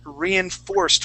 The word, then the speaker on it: reinforced: she wrote the word reinforced for me thank you that's awesome okay so we're gonna have that accent on that o-r reinforced reinforced reinforced there you